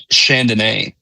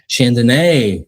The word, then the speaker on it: Chandonnet: So my last name is Chandonnet. Chandonnet. Yeah, so it's French. Good night to drink. Yeah, yeah. It's like mine's like I tell them it's like Chardonnay, like the wine, but instead of an R, it's an N.